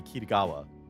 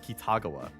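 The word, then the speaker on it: 喜多川: Like the actual way to pronounce it would be Kiraawa. Like, you know, like marine and dress up darling, right? like Kiraawa would be the more like accurate pronunciation I guess but he said Kitagawa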